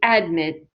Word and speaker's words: admit: So admit. We do not say admit. We say admit. So, for example, TCC admitted 1,000 students last semester. Admit. Okay, good. So the second syllable is stressed.